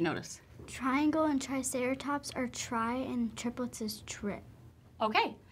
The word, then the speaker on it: tri: Sometimes the pronunciation is a short I instead of a long I, but the meaning stays the same, and we don't spell it any differently.